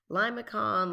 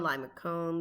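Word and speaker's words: limaçon: here this is a limassan with the inner loop remember this could also be pronounced limacon limacone limasone lots of different ways but this one has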